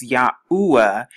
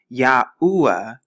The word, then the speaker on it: Yahuah: it has four letters right here and it's pronounced yahuwah yahuwah although sanskrit is a very old language there